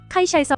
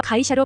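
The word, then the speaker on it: 航空会社: 会社、 로 표현되며 여기서 유의할 것은 발음이 空港会社、 로서 회사 부분이 会社、 가 아닌 会社。 입니다. 저희는 일본어가 단어와 단어가 연결되면서 카이샤에서 가이샤로 발음이 바뀌기 때문입니다.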